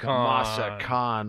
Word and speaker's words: Massican: Dan Petroski from Masakon Masakan Winery. Lots of different It's a long A. It's not a short A. It's not mass.